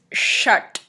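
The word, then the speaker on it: षट्: சாத் வார்த்தையின் சமஸ்கிருத உச்சரிப்பு சிக்ஸ் இஸ் ஷட் ஷட் சோ த ட is pronounce by placing the tongue bar back on the ballot ஷட் இந்த காணொளி உங்களுக்கு பிடித்திருந்தால்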